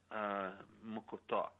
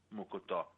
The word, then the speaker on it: mocotó: They even make mocotó. It's called M-O-C-O-T-O with the accent on the third syllable. Mocotó.